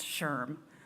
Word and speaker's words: SHRM: president and CEO of SHRM pronounced Sherm the society for human